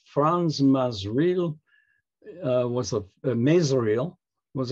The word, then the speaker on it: Frans Masereel: pronounce it and uh according to them it's franz mazreel uh was a misreal